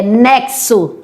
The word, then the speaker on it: nexo: Nexo, porque esse sonzinho aqui, ó, é nexo. Dois sons.